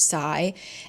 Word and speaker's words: psi: And it's often referred to as like PSI pronounced sigh.